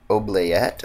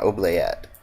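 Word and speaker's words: oubliette: Oblayet, I think is how you pronounce it. Yeah, Oblayet. I remember looking that up recently so that I would know.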